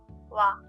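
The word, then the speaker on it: は: The next character is ha. When it's used in a word, it should be pronounced ha. However, when it is used as a particle, it is pronounced wa.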